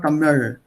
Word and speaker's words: Tamil: But that L at the end is not pronounced correctly. This is the English spelling here, Buchstabierung. If you want to pronounce or try to pronounce what is there in that language, the way it's pronounced, it's called Tamil. L. That L sound doesn't exist in English.